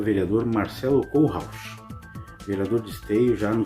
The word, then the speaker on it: Kohlrausch: Eu sempre chamei você de Marcelo Kohlrausch. A pronúncia tá certa? Certíssima. É só tu separar Kohlrausch. É isso aí. Oh, perfeito. Acertou. É difícil acertar, viu? É difícil. Mas tu acertou. É o Kohlrausch mesmo.